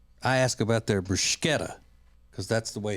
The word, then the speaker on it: bruschetta: That's why you don't hear me ever asking at an Italian place about their bruschetta. I ask about their bruschetta because that's the way it's pronounced.